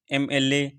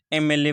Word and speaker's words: MLA: यहाँ पर MLA की जो साउंड है, प्रोनाउंसिएशन है, हम MLA को कैसे लिखते हैं, MLA, ठीक है। इसकी जो साउंड है, इसका जो प्रोनाउंसिएशन है वो है वोवेल साउंड, तो इस वजह से आर्टिकल एन हो जाएगा।